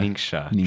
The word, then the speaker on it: Ningxia: Ningxia.